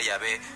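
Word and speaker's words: Yahvé: padre flaviano a macul nosotros pensamos que se pronuncia llave porque así lo pronunciaban los samaritanos que se habían separado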